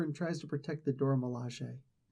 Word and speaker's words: Dora Milaje: Dora Milaje, and yes, it is pronounced Dora Milaje. Dora Milaje. I mean, it's like they actually sound it out for you.